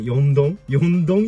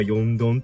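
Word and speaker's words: 4どん: 数がみたいな 4 つのドンで田舎 4 どんって読むらしくてそれがなんか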